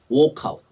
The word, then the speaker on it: walkout: 발음하실 때 혀를 굴려야 돼요. workout. 만약에 이렇게 workout이라 그러면 이때는 혀를 빼야 돼요. walkout. 이건 뭐라고요? walkout. 근데 이제 요 빈칸 옆에 workout은 뭐라고요? 혀를 굴려서 workout.